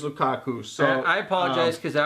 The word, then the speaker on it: Lukaku: for our last video I said Lou Kaka and my apologies I I meant to say Lukaku and it is Lukaku so I apologize because